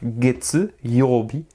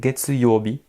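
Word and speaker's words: 月曜日: Candy de la lune il va se prononcer gets donc get eurobi get euro get eurobi lundi ensuite mardi mercredi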